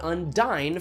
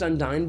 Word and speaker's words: Undyne: And that's exactly what Undyne from Undertale is.